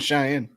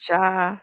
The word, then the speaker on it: Cheyenne: When did you change your name to Cheyenne? Because I was informed I was pronouncing it wrong. I was calling her Oh. Shay. I thought it was Shay. Shy. It's shy. Cheyenne. It- Cheyenne.